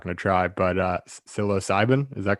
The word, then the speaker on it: psilocybin: honest i'm not going to try but uh psilocybin is that correct yeah psilocybin yeah so uh for for these other sort